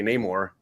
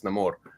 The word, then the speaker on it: Namor: it's same with neyar if you are speaking in English you say neyar if you're speaking Spanish or want to say it like he would say it's namore okay Italian it's namore yeah